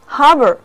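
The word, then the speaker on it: harbour: 合 A-R 读作长长的 R， harbor，它的意思是海港或者港口。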